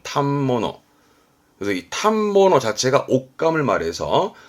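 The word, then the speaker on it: 反物: 옷감을 파는 가게를 말하는데 발음이 어렵습니다 발음은 탑모노 그래서이 탐버너 자체가 옷감을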